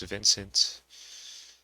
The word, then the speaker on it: Vnce: can probably tell it's vincent um and all i did was take out the eye and so we have vince without an i still pronounced the same way though so people most